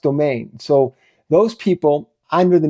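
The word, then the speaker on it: demesne: demen D de M NS e but it's pronounced domain so those people under the mean Lords would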